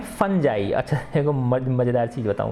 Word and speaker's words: fungi: वैसे नॉर्मली हम देखेंगे तो फुंगी बोलेंगे ज़्यादातर कोई बच्चा, ठीक है ना, लेकिन ये इसका उच्चारण कैसे होता है, फंजाई होता है।